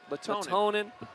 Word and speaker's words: Lehtonen: There's an extra syllable in there. Lehtonen and Alexis Callahan.